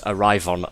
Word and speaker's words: Arrivon: It's Arrivon 11. The XI wasn't. It wasn't XI the alphabet letters. It was XI the Roman fucking numerals.